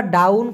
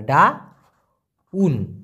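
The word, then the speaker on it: daun: পান তবে সাধারণত ওরা ডাউন কথাটি আগে ব্যবহার করে ডাউন ইংলিশের ডাউন না ভাই মালয়েশিয়ান ভাষায় ডাউন ডাউন ডি এ ইউ এন ডাউন ডাউন মানে মূলত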